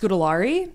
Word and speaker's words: Scoary: too yes scoary sco thankfully thankfully it's pronounced scari scari because otherwise I would be Mary scoary and actually funny enough